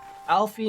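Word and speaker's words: Alphinaud: permit me Alie know Alfie no the D is silent and my sister aliz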